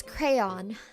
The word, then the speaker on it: crayon: Um, how do you pronounce crayon? Crayon with two syllables like crayon.